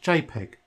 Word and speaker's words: JPG: the type of file is a jpg that's pronounced jpg which is a type of picture and is